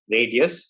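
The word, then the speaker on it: Radyes: um it's called uh pronounced as radius spelled as r-a-d-y-e-s uh i think 2010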